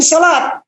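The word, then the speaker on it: صلاة: tamah artinya selesai shalawat itu dibacanya sebetulnya bukan salah waktu tapi shalat karena apa Karena kita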